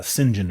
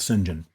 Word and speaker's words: St. John: I believe his name was uh Singen or something like that. It was kind of a weird pronunciation of St. John as I think as how it was uh printed or written, but it was called Singen.